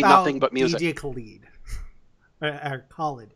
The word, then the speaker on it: Khaled: Khaled is how it's pronounced. He actually says it in the song.